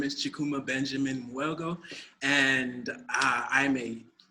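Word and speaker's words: Chukwuma: Uh, the proper pronunciation is Chukuma, but Chukuma.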